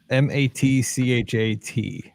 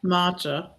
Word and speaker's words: matcha: Okay, somebody tell me how to pronounce what Natalie's asking on Instagram. It's M-A-T-C-H-A-T. Matcha.